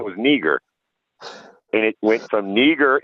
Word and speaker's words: Niger: or black and uh the pronunciation is neager not neither so type in that's